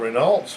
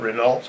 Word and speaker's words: Renault: shop manual literature of Renault's was never all that good. Renault is the right way to say it, but Renault's what it looks like, and whichever way you want to say it, it's the same car.